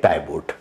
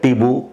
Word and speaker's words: Tiebout: तो उन्होंने कहा था करेक्ट प्रोनाउंसिएशन ये टिबू है। ये मुझे बात याद रही, तो मैंने उसको फिर चेक किया, तो उसको टिबू ही प्रोनाउंस करते हैं। लेकिन आपको ज्यादातर लोग मिल जाएंगे जो कहेंगे टाइबूट, तो प्लीज इसको करेक्ट कर लेगा। टिबू इसको करेक्ट प्रोनाउंसिएशन है।